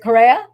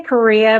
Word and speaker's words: Correa: Is it Correa? Well, we say Korea, but it's pronounced Correa.